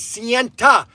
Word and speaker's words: Sienta: Okay, so the correct pronunciation for Sienta is Sienta. It's a silent T.